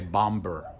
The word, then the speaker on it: bomber: We don't say bomber, okay? Bomber. So in those cases where we have an M and then a B at the end, we don't pronounce the B.